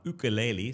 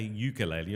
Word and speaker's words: ukulele: Uh let me get my my ukulele. Somebody said it's not I shouldn't say ukulele. I should probably say ukulele, which is apparently the right way to say it.